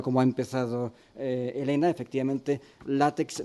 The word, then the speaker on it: LaTeX: Pero en principio, que efectivamente, retomando la manera como ha empezado Elena, efectivamente LaTeX nace, o LaTeX, la pronunciación correcta, nace en los años